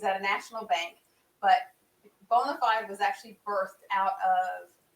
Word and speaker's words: BONA5D: to be here bonafide even though it's spelled different it's pronounced bonafide credit consultants llc on